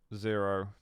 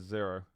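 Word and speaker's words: Xaero: X-A-E-R-O is Zero. Prepare to fight. Round begins in 3, 2. It's not pronounced Zyro, right? I've been pronouncing it Zero like my entire life, so.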